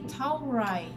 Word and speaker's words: เท่าไหร่: It's actually เท่าไหร่. เท่าไหร่. It's with an R. เท่าไหร่คะ? But in Thailand, they like speak it fast, so it becomes like an L. เท่าไหร่.